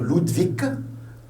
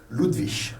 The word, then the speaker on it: Ludwig: Vous avez le G, j'ouvre ici une parenthèse, le G à la fin du mot, on peut la prononcer un G, comme ici, on peut dire Ludwig, Ludwig. Les 3 prononciations sont correctes. Ludwig, un K, et ou bien Ludwig, c'est un G. Les 3 prononciations sont correctes, ici, il n'y a pas de problème.